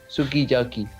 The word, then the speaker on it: sukiyaki: usually allophonic for example the japanese word sukiyaki is pronounced sukiyaki this may sounds like kiyaki to an english speaker but but the lips can be seen compress compressing for the you something similar happens in